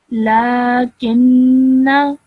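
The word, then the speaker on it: لكنّ: So this over here with the cross on top is the blank alif, so which indicates that you should not pronounce it. Okay, so whilst reading in continuation, you would read the word as lakinna, lakinna. So I have not pronounced the blank alif, so I did not elongate my sound at the end of the noon.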